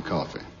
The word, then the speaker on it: Coffey: Your name is Coffey. Yes, sir, boss. Like to drink. Only not spelled the same.